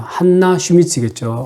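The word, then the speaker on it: Hanna Schmitz: 작품에서의 인물의 이름은 해너 슈미츠입니다. 한나 슈미츠겠죠. 아마 독일 발음으로.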